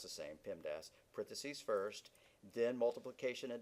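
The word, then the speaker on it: PEMDAS: and subtraction are done so you pronounce it Pim Das in some languages there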